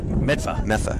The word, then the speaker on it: Medford: I think it's pronounced Metha. Medfa.